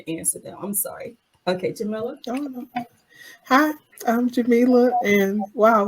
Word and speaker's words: Jamila: And I think I mispronounced your name, and I'm so sorry. It's Jamila.